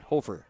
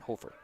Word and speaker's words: Hoefer: Mason Paul and Jackson Hafer and then Gerald Moline the line uh Connor duden Owen shervstead and Carson Erickson are your defensive backs and I said it's Jackson hoefer as the pronunciation Hofer so Cameron Spath he